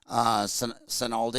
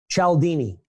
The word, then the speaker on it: Cialdini: State University when I got my MBA, Robert Sinaldi. Oh, Cialdini? Yeah. How do you say his name? Cialdini.